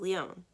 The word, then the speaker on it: Lyon: the world it's pronounced lyon like you're eating the letter n instead of saying it i rest on the